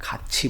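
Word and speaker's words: 같이: Generally अगर नीचे में पाछे में ये आ रहा हो थ और इसके बाद में ई आ रहा हो तो यहाँ पर इसका प्रोनाउंसिएशन छ हो जाता है, खाची बोलते हैं इसको, है ना.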